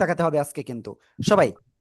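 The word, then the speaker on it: ث: সবাই জিহ্বার আগা, সামনের উপরের 2 দাঁতের আগায় লাগান, লাগান লাগান, লাগিয়ে নরম করে হালকা বাতাস বের করবেন। বের করে আপনি এটা উচ্চারণ করবেন। ঠিক আছে? সা, সা, ফা না কিন্তু, আগের থেকে পড়েন না,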